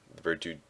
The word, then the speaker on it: Verdute: So I just keep healing with Limo almost every turn because um, Verdute, Verdute, that's how you say his name.